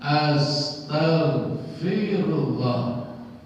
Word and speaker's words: astaghfirullah: Nabi kita Muhammad sallallahu alaihi wasallam mengajarkan astaghfirullah.